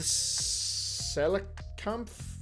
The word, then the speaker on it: Coelacanth: So the Coelacanth, is how you say it, was extinct for hundreds of years.